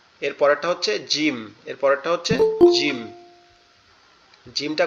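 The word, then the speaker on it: ج: আছে, একটা ফোঁটা আছে, এটাকে বলা হয় জিম। জিম, এই জিমটা কোথা থেকে উচ্চারণ হবে? জিমটা হচ্ছে আমাদের জিহ্বা যেটা আছে, এই জিহ্বার মধ্যকান উপরের তালুর সঙ্গে লাগবে। জিহ্বার মধ্যকান উপরের তালুর সঙ্গে লাগবে, লেগে উচ্চারিত হবে শক্ত আওয়াজে, এরকম দাঁতের পাটি দুটো একসাথে লেগে থাকবে শক্তভাবে।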